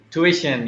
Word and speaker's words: tuition: me this one tuition tuition yes tuition that's the british pronunciation so in india it's a tuition yeah true there's a